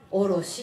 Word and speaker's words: 颪: 上下の下と書いて風と書いておろしって読むんですね。